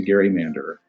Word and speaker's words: gerrymander: when i'm with colleagues i'm often the only person who resorts to gary mander but i'm fighting the good fight i think it's the right pronunciation and it does justice